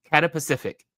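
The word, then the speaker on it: Cathay Pacific: cath Kath cat Kat Kata Pacific that's how you say Kata Pacific is what Lisa mentioned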